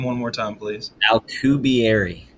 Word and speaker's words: Alcubierre: Alcubierre. Alcubierre.